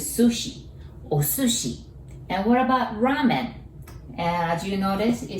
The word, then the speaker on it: ramen: And what about ramen? And as you notice, it starts with R. We don't have R sound in Japanese, so we pronounce it like L, right?